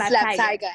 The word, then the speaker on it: Slaap Tiger: Tiger album coming out, or is it Slaap Tiger? It's Slaap Tiger, absolutely. There we Slaap go. Tiger actually means sleeping tiger. Slaap Tiger, that's how you say it.